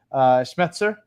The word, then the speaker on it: Schmetzer: I'll ask you I guess some similar question schmetzer is how you pronounce the name yep he's safe yeah I